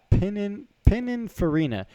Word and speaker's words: Pininfarina: It's Pininfarina. Pininfarina is the design house that designs Ferraris. They designed the Testarossa, the 458. Pininfarina designs all of the Ferraris.